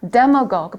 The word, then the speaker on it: demagogue: demagogue. 발음 좀 특이하죠?